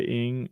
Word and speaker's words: Ng: Oh, you were saying how to say ing, like the word ring without the R, but I was off too.